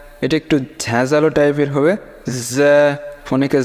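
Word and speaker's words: فاء: লাগে আইন এরকম পরেরটা দেখেন তারপরে কি ফা উচ্চারণ হবে নিচের ঠোট উপরের দাঁতের সঙ্গে লাগাইয়া ফা ঠিক আছে ফা পরেরটা দেখেন কফ কফ স কফের যে উচ্চারণটা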